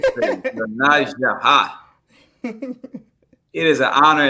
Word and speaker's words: YoNasDa: Oh, Sister YoNasDa, ha. Did I say it right? Yes, you did. YoNasDa, ha.